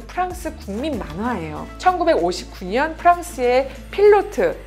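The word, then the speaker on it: Pilote: 1959년 프랑스의 필로트, 그러니까 영어로 하면 파일롯이라고 하는 그 스펠링인데 필로트라고 하는 매체에 올라가 있던 연재 만화예요.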